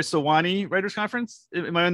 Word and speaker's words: Sewanee: Well, I read that you actually worked with Diane Johnson during the 2013, am I going to say it right, Sewanee Writers Conference?